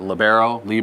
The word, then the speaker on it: libero: And how do you personally pronounce the defensive specialist position? The DSs? Yeah, well, is it libero?